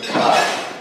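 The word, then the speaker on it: καί: And it's pronounced in the Erasmian pronunciation system, Chi.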